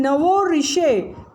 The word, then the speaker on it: nouveau riche: Then nouveau riche, here in S is silent in riche, people who have become rich lately.